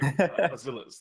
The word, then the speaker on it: Aziliz: Okay, yes, I was just putting too much emphasis on the A, it sounds like. Aziliz, there we are.